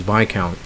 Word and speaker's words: viscount: Sometimes it's really irregular because you pronounce discount as discount, but this one you pronounce as viscount.